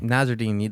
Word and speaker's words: Nassourdine: Nassourdine, the French boy.